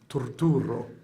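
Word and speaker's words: Turturro: The correct way to pronounce my name in its origin, or the original language, is Torturo.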